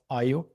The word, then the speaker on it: ÄIO: Today I'm really excited to speak with Nimala Bonturi, the CEO and co-founder of IO. Am I pronouncing it right?